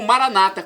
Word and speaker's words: Maranata: dizemos nós católicos ou Maranata com a tônica na penúltima sílaba como dizem nossos irmãos separados os evangélicos ou protestantes não importa a pronúncia